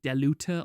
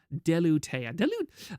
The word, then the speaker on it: Delutea: I was trying to pronounce it like Deluta or something. Delutea.